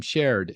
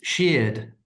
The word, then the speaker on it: Sheard: Shared. Is it Shared? It's Sheard. Rhymes with Sheared. beard, which Okay. I no longer have. Say that again. It rhymes with beard, which Oh, I no beer.